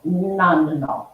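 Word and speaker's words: nonenal: It's called nonanol. It looks like none now, but it is pronounced, I did like 5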